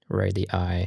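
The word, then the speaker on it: radii: Radi. Yes, that's the correct way to say that.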